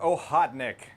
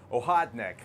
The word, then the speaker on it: Okhotnik: it should be pronounced ohotnik I I think the K is a little silent in Russian and I'm pretty sure